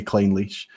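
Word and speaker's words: Clynelish: about just to clarify I know that I pronounced claim leash a bit fast and I see clearly some things and but you know if you see clean leash but I think most people would say clean leash I see cleanly sure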